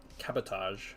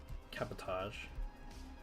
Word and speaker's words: cabotage: much for I mean it is a French word so would assume cabotage okay o e oh